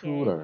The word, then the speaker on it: tutor: I studied English with my tutor. Okay. Tutor. Tutor. Okay. Tutor. First syllable is a long u sound. Second syllable is a tutor, schwa.